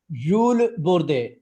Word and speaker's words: Jules Bordet: Jules Bordet. The T and okay. the S are not pronounced.